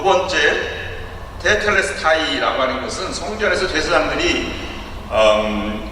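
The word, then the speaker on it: τετέλεσται: 다 이루었다는 말에 히라보 원어로는 테텔레스타이라고 발음합니다. 19세기 유명한 설교가 찰스 스펄전이 이 말씀이 너무 심오하다고 해서 이렇게 말한 적이 있습니다.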